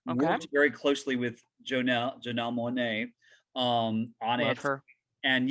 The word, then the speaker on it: Janelle Monáe: And there was lots of nasty torture and rape and abuse that Janelle Monáe went through. And am I saying that right? Janelle Monáe, yeah.